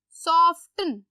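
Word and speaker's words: soften: सॉफ्टन, इसको कहते हैं सॉफ्टन, सॉफ्टन, तो टी क्या है, साइलेंट, सो आपने इसको सॉफ्टन नहीं पढ़ना, इट्स सॉफ्टन।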